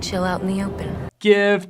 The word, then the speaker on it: GIF: out in the open gift jiff no nobody says jiff me me me no